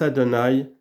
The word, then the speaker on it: Adonai: Pendant le premier, le nom s'écrit Yehovah et se prononce Adonai, mais au temps du Messie, il s'écrira et se prononcera Yehovah.